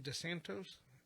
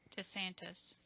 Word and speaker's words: DeSantis: DeSantos? I wonder if we write DeSantos. DeSantis. Is it? That's how you pronounce it? DeSantis, yeah.